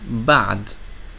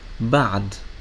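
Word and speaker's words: بعد: When it has sukoon, you can find it in a word like ba'd, ba'd, which means after.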